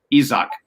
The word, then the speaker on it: Isaac: facebook you notice that his name looks like for us in america it looks like isaac uh but it's the same name but it's just pronounced izak uh in uh in portuguese and uh uh i'll go